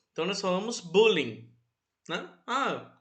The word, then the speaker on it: bullying: certa maneira, apesar que uma das poucas vezes que a gente utiliza uma palavra em inglês e a gente utiliza a pronúncia dela em inglês mesmo na nossa língua. Então nós falamos bullying, né?